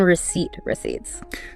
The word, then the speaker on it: receipts: And remember the silent P in receipts.